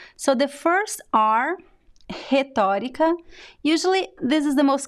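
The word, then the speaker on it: retórica: you pronounce the r so the first are hetarika usually this is the most common pronunciation rhetorica so the first r sounds a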